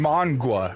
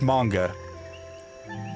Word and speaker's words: manga: Manga and monga. I've heard monga. It's manga. Manga.